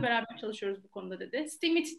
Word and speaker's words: STEAMIT: STEAMIT diye okunuyormuş bu arada.